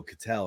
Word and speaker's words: Ketel: calling him Kettle Marte, and I'm like, then I heard him the other night. They were like, "Oh, Cattell," and I was like, "Okay, that's not how you say it."